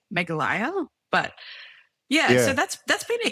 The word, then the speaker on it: Meghalaya: So the EP, my first EP that I put out that I have been religiously calling Meghalaya should actually be pronounced Meghalaya.